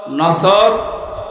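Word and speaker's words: نصر: এই জন্য তেলাওয়াত যখন করবেন সোয়াদ উচ্চারণটা মুখ গোল করা লাগে।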